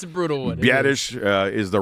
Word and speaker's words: Biadasz: Biadasz is the right way to say it.